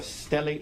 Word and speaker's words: stellate: head and you refer to it as a stellate laceration. Is that right? Yes. And am I pronouncing that right?